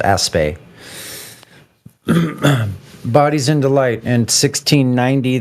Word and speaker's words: Aspect: with the aspect experiment which is pronounced aspay bodies in Delight in